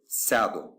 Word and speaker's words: сяду: For example, the word сяду is written with the letter Ya, but it is pronounced with 1 sound, A, not with the 2 sounds, I and A. So, if you pay attention here, I am not saying сяду, I am saying сяду. I pronounce the letter Ya as sound A.